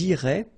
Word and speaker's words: iraient: So ils iraient, and then if you look carefully, you get A-I-E-N-T. Okay, but then phonetically it goes like E. Okay, so technically these form and these forms here are pronounced the same way, and it goes like irait.